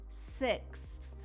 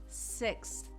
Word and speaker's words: sixth: Sixth. So when that X is over, then you make the th sound. Sixth.